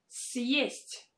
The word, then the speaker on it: съесть: and that is why we need to pronounce it with a combination of sounds Y and E.